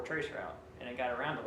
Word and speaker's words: traceroute: but the newer Linux traceroute is really good. So we're going to work from it today. It's not traceRT, it's spelled all the way out, traceroute.